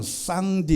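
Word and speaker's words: 上帝: 중국말로 이렇게 단어를 검색해서 발음을 내보면 쌍 d 입니다 쌈디 인가 상제를 쌍 d 라고 부릅니다 이 사전의 보며 쌍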